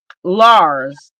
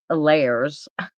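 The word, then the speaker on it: Lares: L A R E S or Lars, but um according to my son's father, cuz it's his last name, it's pronounced layers.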